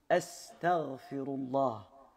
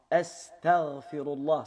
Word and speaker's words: أستغفر الله: Astaghfirullah, Astaghfirullah, c'est comme cela que l'on prononce et pas comme on a l'habitude de l'entendre, et encore plus grave,